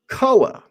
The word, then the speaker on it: COA: Koa. I'm going to get it out of the way. It's spelled C-O-A.